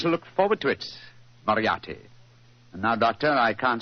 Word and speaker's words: Moriarty: eye a R T Y by the RT Moriarty I remember that name I have a feeling